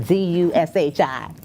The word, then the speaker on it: Dushi: At Dushi Amour, that's Amour. And Dushi is like sushi, but DUSHI Okay, Mecca Yes.